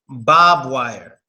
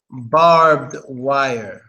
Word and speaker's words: barbed wire: supposed to get in but it's supposed to pronounced just like somebody already said is supposed to be pronounced barbed wire barbed wire that's how it's supposed to be pronounced and that's how it actually is barbed wire not Bob wire but Barbed Wire yeah in prisons it's